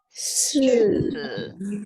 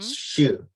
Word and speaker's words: 四: 四是 no, your 四 tongue tip Huh? against your tongue, the tongue tip against lower teeth.